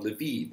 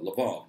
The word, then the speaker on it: Lviv: And it has lost certain territories that historically were Polish, specifically the city of Lviv, or Lvov, depending on how you want to pronounce it, in the area of western Ukraine known as Galicia.